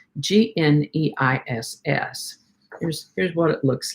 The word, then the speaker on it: gneiss: Today's word is nice. And we're not talking about someone who is nice. We're talking about a geological formation called gneiss. It's spelled Gneiss.